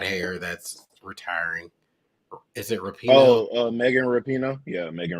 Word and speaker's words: Rapinoe: Is it Rapino? Oh, Megan Rapinoe. Yeah, Megan I Rapinoe.